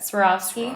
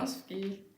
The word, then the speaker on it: Swarovski: Swarovski. Swarovski in the middle here, and then these are the freshwater pearls.